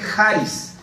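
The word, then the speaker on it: χάρις: Bueno, la palabra que usa en el Nuevo Testamento es charis, con una como X, pero se pronuncia charis.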